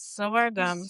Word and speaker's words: sorghum: Yes, sorghum.